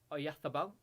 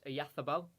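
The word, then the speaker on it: Oyarzabal: Oyathabal. It's like you've got to put a lisp on. So it's Oyathabal.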